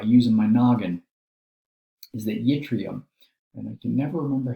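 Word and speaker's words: yttrium: us i don't know the charge on the yitrium but i do know the charge on s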